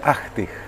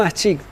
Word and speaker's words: Achtig: ¿Cómo se pronuncia? Ahtig, no aschig.